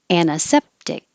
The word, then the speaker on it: antiseptic: that's the most simplified not pronouncing the t and changing the i to the schwa uh anna all of